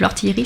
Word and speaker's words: L'Ortiellerie: compte facebook c'est l'ortillerie donc l'ortillerie ça s'écrit l apostrophe o r t I e de l e r I e comme une orti la petite fabrique à orti et non pas comme un orteil voilà non ce n'est